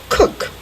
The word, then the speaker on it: Kuch: is unbelievable but anyway my name is Cook it's spelled k-u-c-h that's going to be